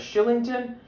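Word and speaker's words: Kylington: The Calgary Flames would use their 2015 60th overall selection on defenseman Oliver, believe it or not, his last name is pronounced as Shillington.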